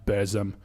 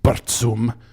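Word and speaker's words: Burzum: i'm talking about bands of course like mayhem bears um correctly pronounced bertsum um darkthrone immortal emperor um these formed the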